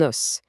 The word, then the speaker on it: os: Au singulier, on parle d'un os. C'est bien un nom masculin. Écoutez attentivement. Le s à la fin se prononce os.